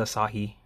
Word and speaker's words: Asahi: they're the i know i was proud i pronounced it asahi um i said a few people pronounce it